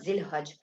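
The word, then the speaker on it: Dhu al-Hijjah: I think I should have to write Z so it will not give you a trouble to pronounce Zil Hajj. It's basically called Zil Hajj.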